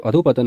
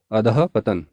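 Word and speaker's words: अधःपतन: है या नहीं तो अधु पतन वर्तनी अशुद्ध है सही नहीं है इसकी जगह में शुद्ध वर्तनी होगी अदह पतन ध के बाद यहां पर विसर्ग योजित होगा और उच्चारण होगा अदह पतन तो यह यहां पर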